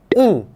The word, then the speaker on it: 응: que é a palavra um um e aliás eu acho esse desenho em hanger tão bonitinho né parece um hambúrguer um Essa é pronúncia um significa sim mas é